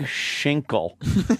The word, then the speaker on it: Schinkel: It's spelled S-C-H-I-N-K-L-E. No, I'm Schinkel. I hate how Schinkel's voice drops out just at the end of his name. What? You can't hear that L properly.